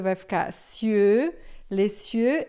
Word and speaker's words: les cieux: Ele criou os céus e a terra, les cieux e la terra, tá? Esse l aqui você vai pronunciar bem lê. O s você não vai dizer e daí esse sie vai ficar bem fechadão.